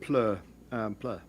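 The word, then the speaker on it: ploeh: pronounce that is that plo and what's the origin uh yeah well i you know if um i pronounce it plur play um but the origin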